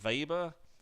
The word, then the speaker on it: Weber: the last person we'll talk about is Max Weber it looks like Weber but it's pronounced with a weber also born in Prussia in this case to a wealthy and prominent family Weber his father was heavily engaged in politics and